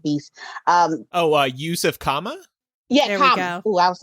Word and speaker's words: Kama: Kuma from, I'm probably saying his name wrong. I'm pretty sure I'm saying it wrong. And Fantastic Beasts. Yusuf Kama? Yeah, there Kama.